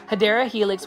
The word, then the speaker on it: Hedera helix: This is another Hydra helix. or Hedera helix. I just like calling Hedera helix, but the correct way to say it is Hedera helix, which is basically in English ivy.